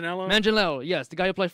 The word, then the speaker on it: Manganiello: I can't pronounce his last name. Manganiello, yes.